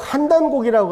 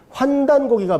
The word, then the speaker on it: 환단고기: 저도 임승국님의 그분은 꼭 한단고기라고 하는데, 환단고기가 맞는 것 같습니다. 환단, 대한민국 할 때 한자 이 세 글자가 우리의 대표적인 어떤 우주관인데, 천지인인데, 이게 발음이 같을 리가 없어요.